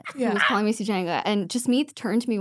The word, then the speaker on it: Sugenja: was like, hey, so is Sugenja the anglicized version of your name? And I was like, oh, yeah, it is. That's how you pronounce it in English. And she was like, okay, well, how do you pronounce it in Tamil? And I was like, it's Sugenja in Tamil.